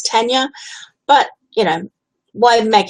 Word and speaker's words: Tania: I'll so gently say actually it's tenure but you know won't